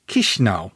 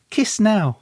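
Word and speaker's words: Chișinău: The capital city is spelt Chisinau, but it's pronounced Chisinau. So kiss now.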